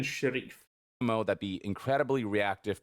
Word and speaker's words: Sharif: Stephen Sheriff. No, it's Stephen Sharif.